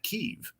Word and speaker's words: Kiev: uh pro-russian regime in Kiev that's my understanding hi you hear Kiev but I once read where it rhymes with Steve no I've heard but I